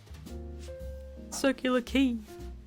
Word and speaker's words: Circular Quay: It's pronounced key, stop that! LMAO. Go Sonic. Nice badge. Circular Quay.